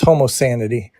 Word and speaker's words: Homo Sanity: I don't say wrong how do you say it sanity oh it's homo sanity homo sanity okay I would I would